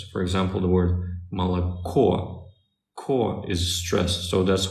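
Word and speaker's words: молоко: o's they're not stressed so the O's that are not stressed they're pronounced as ah the O that is stressed is pronounced as or that's it there is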